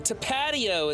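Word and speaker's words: Tapatío: I know I pronounce it wrong. Tapatio is how I should pronounce it, Giga.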